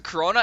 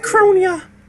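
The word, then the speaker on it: Kronya: Yeah, that whole map is really just like you could do flying to Corona and then fly to Solon, and then it's basically over. It's Yeah. pronounced Cronia.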